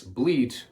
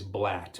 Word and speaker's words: blat: So, we don't want to vocalize bleet. We want to vocalize blat. B L A T.